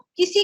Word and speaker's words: क: ह्रस्व को ह्रस्व बोलना, दीर्घ को दीर्घ बोलना, और क को बहुत से लोग कै, ख, ग, घ ऐसे बोलते हैं, तो ये उच्चारण का दोष है। क, ख, ग, घ, ङ ऐसे उच्चारण करना चाहिए।